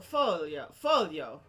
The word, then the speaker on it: Foglio: And if you go to Italy, the proper way to say folio is a folio.